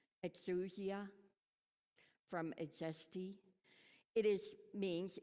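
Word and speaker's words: ἐξουσία: I didn't go into listen to how you say it in Greek so this is my interpretation exusia from eesti it is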